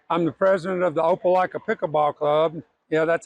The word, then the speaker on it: Opelika: I'm the president of the Opelika Pickleball Club.